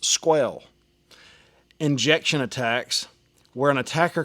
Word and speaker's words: SQL: Then there's SQL, pronounced squel.